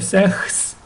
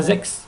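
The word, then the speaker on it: sechs: добре шість - Це зекс не секс і не сегс і не сехс і не зехс а зекс зекс зек зайти сім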